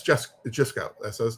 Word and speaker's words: Jusko: You know, it's just Jisco. That's his name. Just go. That's kind of hilarious. He says, "Jisco. Just remember just go.